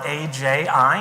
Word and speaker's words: Aji: It's spelled A-J-I, and you say it like Aji.